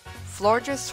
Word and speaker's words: Florges: Florges rhymes with gorgeous for a reason.